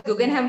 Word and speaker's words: Guggenheim: It's pronounced as Guggenheim Partners, right? Right, Guggenheim Partners.